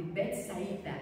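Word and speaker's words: Betsaida: ele era natural de Bet saída é bet saída né que pronuncia na época uma aldeia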